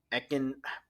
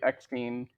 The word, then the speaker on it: Eckstein: were against her playing Ahsoka instead of Ashley Ekin. How do you pronounce her last name again, Riz? I'm sorry. I think it's Ashley Eckstein.